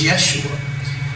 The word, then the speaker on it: Yeshua: haired blue eye jesus there was no jay in pronunciation when this man walked the earth his name was yeshua so already when you